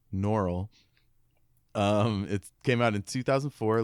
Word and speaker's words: Norrell: Sorry to correct your pronunciation, Norrell.